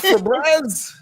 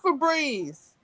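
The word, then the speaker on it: Febreze: right she like Shon I do remember it was for Breeze not for bre it is for Breeze oh how do you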